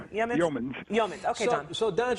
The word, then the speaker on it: Yeomans: Pronounce it. Yeamans? Yeomans.